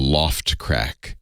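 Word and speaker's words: L0phtCrack: easy there's a program most people use called Loft crack LS I think it's l0 PHT c-r-a-c-k hello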